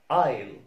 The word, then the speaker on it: isle: وكلمة isle isle isle.